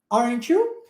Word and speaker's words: aren't you: Aren't you? Aren't you? Olha que interessante o T sendo transformado nesse som de tch, igual aqui nossa região sudeste, né?